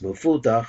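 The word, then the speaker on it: מפותח: It sounds like the word paseach, but it's mefutach.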